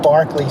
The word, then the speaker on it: Berkeley: uh kind of a mashup between that and um the famous the famous thing that Bishop Barkley said which is spelled Berkeley.